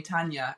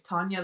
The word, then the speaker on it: Tania: Like, a lot of people call me Tania in the UK. And so I always tell them, look, it's Tania like lasagna, and everyone seems to remember that.